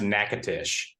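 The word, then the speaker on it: Natchitoches: yeah I know the the Louisiana city is pronounced nakatish yeah whereas the Texas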